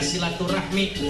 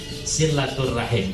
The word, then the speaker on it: silaturahim: Yang PMI, kami nggak mau pakai kata silaturahmi karena ujungnya ada HMI-nya. Maka kami pakainya silaturahim. Ini biasa ya, teman-teman pergerakan di mahasiswa seperti itu. Tapi kalau kita buka kitab, beberapa keterangan kitab memang bacanya silaturahim.